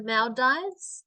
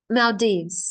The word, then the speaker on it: Maldives: should go to the Mal D sorry I always mispronounce that um Mal Dives males yes Maldives so he could go